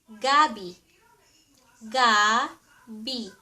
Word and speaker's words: gabi: And also it has the same spelling with the Tagalog word for night or evening. And if you mean ----- evening, or nighttime, sa Tagalog you pronounce it as gabi.